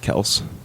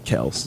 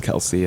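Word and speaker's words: Kelce: name is actually pronounced Kels yeah yeah that's the one of their podcasts yeah they talk about like it's actually Kells it's how you say it but everyone says Kelsey and yeah Kelsey sounds real south the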